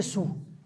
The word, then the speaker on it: Saül: alors allez comprendre ça on écrit Saül et on prononce il est sous tout simplement parce qu'en occitan c'est le mot sadul vous enlevez le dé au